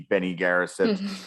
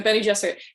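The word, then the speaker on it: Bene Gesserit: they have any self-determination, they're kind of witchy Benny Garrison, which, by the way, I am going to be mispronouncing everything, and it's okay.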